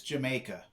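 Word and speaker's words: D'yer Mak'er: from what I understand the correct pronunciation is Jamaica and the whole dear maker is shorthand for did you makeer I guess if you're English and you say it really quick it's the maker right right and it's part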